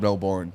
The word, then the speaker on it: Melbourne: couple of people said Melbourne yeah it's not born Supremacy you're not Matt Damon dude just say melbour you know what I'm